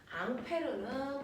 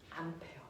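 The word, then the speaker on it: Ampère: 수 있어 앙페르 알려줬어요 앙페르 프랑스 사람이라 이름이 앙페르 그 사람을 미국놈들이 뭐라고 읽었을까 암어 암페어 그래서 2암페어 3암 암페어 할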